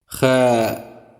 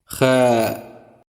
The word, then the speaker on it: خاء: It's not exactly the same, but it is somewhat similar to the CH sound in the following German word.